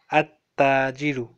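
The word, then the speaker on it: التاجر: al-lam is silent and there are some words in which lam is not silent. Al-babu here, lam is not silent. So, we'll just read it al-babu. But in at-tajiru, lam is silent. So, we will put a shadda on ta.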